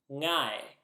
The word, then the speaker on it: ngai: So the word for I or me in Sumerian is ngai. Ngai. This word may be a little difficult for English speakers to pronounce because it starts with the ng sound. This is the sound in the middle of the English word singer, for example.